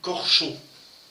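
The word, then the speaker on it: Corção: Gustave, alors en français ça s'écrit Corsao, et je vois qu'on dit Corchon. Je ne connais pas le portugais, mais je crois que c'est à peu près ça.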